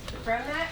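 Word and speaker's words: Romach: Okay, so number three is from Romac Incorporated out of Franklin. R-O-M-A-C-H. I probably mispronounced it.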